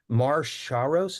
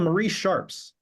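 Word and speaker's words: Marie Sharp's: over and over again Mar shos is that how you say it from it's called no no no it's called Marie Sharps Marie Sharps I'm sorry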